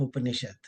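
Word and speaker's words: उपनिषद्: So it is made up of three different syllables, Up, Ni, and Sat. So when you combine Ni and Sat, it becomes Nishad. You know, the Sa becomes Sha in the it is the rule of a Sanskrit grammar that if a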